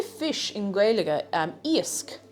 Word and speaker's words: Iasc: Iasc. I-A-S-C.